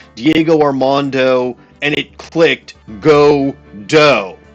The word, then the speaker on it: Godot: No, it's Godo. Go for Diego and Ar and do from Armando.